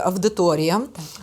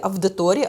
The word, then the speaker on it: аудиторія: Дивіться, якщо я маю кажу студентам, що правильно говорити аудиторія, то ще в 70-х роках виходив словник Погрібного. Угу. Де в транскрипції було написано, що вимова має бути тільки авдиторія, авдит, авдіювання, авдієнція.